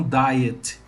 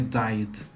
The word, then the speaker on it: died: changed, decide, decided, die, died, tá? Died, e não diet, que é de dieta, aqui é died, tá?